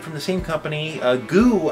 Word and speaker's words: GU: the same company uh goo I found out is what they want to talk pronounce themselves as um very aply named